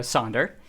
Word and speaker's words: Sander: a step back uh my name is uh sonder to take the the Dutch pronunciation and I am the